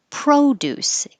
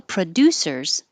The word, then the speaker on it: produce: is the noun so when the verb has stress on the second syllable the first syllable with the pro becomes pra and not o so you say and produce and the noun produce keeps the o sound produce so together how producers